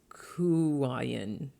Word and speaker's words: Kuan Yin: kuan yin is and it's pronounced kuwaian or she who hears